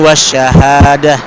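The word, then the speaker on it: وَالشَّهَادَةِ: Tapi ini wasyahadah. Karena ini bukan mad arid lukun kalau diwakafkan ya. Karena ini ee apa? Madinya di belakang, sedangkan huruf dal cuma satu harakat.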